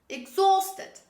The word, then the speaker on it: exhausted: The last word, exhausted. Say with me, exhausted. It's not exhausted, don't say exhausted. This is exhausted.